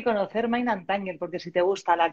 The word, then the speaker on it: Mind And Tangle: Mind and Tangle.